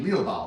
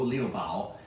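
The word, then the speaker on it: Liu Bao: Um the boh is actually Leo which we sell on the website. So in in pinion it's L I U B AO Leo and Historically, it's bojia tea.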